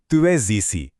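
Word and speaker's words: tu es ici: Sound भी है और एज और इसी के बीच वो लियाजों वाला जादू भी है, जहां स की आवाज ज बन जाती है। तो इसे एक फ्लो में बोलेंगे, तुए जीसी।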